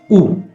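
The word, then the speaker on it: う: The third character is U, which is pronounced as U. U.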